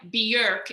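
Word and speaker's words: Björk: getting botched like how bjork is like kind of like bjerk if you've heard her say it like in icelandic like that's like the icelandic pronunciation of it or like with me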